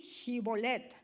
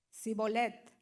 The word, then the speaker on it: Shibolet: Si él respondía: no, entonces le decían: ahora pues di Shibolet. Tomen en cuenta esta palabra, hermanos. Y él decía Sibolet, porque no podía pronunciarlo correctamente, como los hispanos el inglés, ¿verdad?